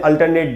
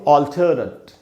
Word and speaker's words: alternate: अल्टरनेट नहीं होगा दोस्तों, इसका सही उच्चारण क्या है? इसका उच्चारण दोस्तों ऑल्टरनेट। ऑल्टरनेट, ये जो ट है, ये देख रहे हैं आप, मैंने इसको अंडरलाइन किया, यहीं पर स्ट्रेस है, यानी स्ट्रेस का मतलब यहाँ ज़्यादा देर तक रुकना है।